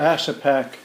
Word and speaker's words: Ashepak: Ashepak. Ashepak. In Yupik, Ashepak would pronounce it Ashepak. Ashepak it's really good. That's what it means. Okay. But in English, Ashepak.